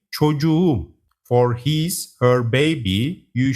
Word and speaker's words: çocuğum: If a word ends with K and gets a possessive suffix starting with a vowel, the K turns into a soft G. Çocuk becomes çocuğum.